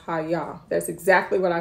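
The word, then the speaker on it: hayya: me just tell y'all it's spelled h a y y a but it's pronounced Haya that's exactly what I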